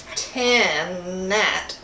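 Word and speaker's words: Tannat: Okay, so Left of Ordinary is a brand of Tanat, or Tana. It can be pronounced either way, and it comes from the southwest of France.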